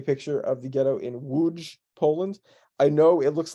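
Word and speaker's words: Łódź: this is a picture of the ghetto in woods Poland I know it looks like lots but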